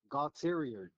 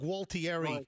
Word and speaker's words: Gualtieri: Bob Gautterior. No, you're not pronouncing that properly.